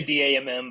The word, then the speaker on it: dAMM: don't know about oh we say d-a-m-m but occasionally we start slipping into calling it damn finance all right so d.a.m